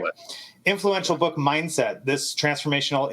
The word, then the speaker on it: Dweck: Is that how you say it? Dweck? Yeah, Gerald Dweck.